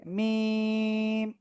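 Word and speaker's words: ميم: তো দেখেন এই যে মিম অক্ষরটা, মিম অক্ষরটা পূর্ণরূপে আসবে এরকম, 4 আলিফ টেনে উচ্চারণ করতে হবে মিম।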